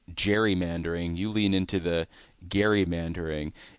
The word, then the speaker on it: gerrymandering: But I've I've trained myself and I als I often fall back on the soft G. But I prefer to say gerrymandering. If I hear other people saying it, I've done something.